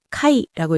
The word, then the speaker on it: 会: 그리고 우리가 모일 회로 읽었듯이 일본에서는 모이다, 만나다라는 뜻으로 아, 그리고음을 우리가 회라고 읽는 것을 카이라고 읽어서 만나다, 모이다, 회 아, 카이라고 외워 주시고요.